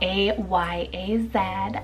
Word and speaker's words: Ayaz: Ayaz, spelled A-Y-A-Z, Ayaz, which I hope I'm pronouncing it right.